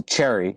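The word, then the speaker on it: Chery: I got another car called a Cherry. Never heard of it before. Not Chevy, but it's like spelled like Chevy, but there's an R.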